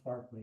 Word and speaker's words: Berkeley: So, George Barkley, as I'm sure I've mentioned before, it is it is pronounced Barkley even though it's called Berkeley, even though therefore the city I live in should be called Barkley, but all right.